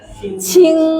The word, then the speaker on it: qing: Ya, Q bacanya masih ingat gak? Ci, ci, si, berarti dia baca ci. Ci, i, n, g, ing, cing, bener gak?